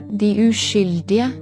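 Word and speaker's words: Den uskyldige: Filmin adı Norveççe'de şöyle okunuyor. Die Uskyldige.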